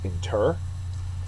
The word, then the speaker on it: inter: absolve next word is inter ENT as a verb second syllable is accented it means to bury